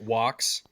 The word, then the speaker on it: Vox: It's pronounced Wox.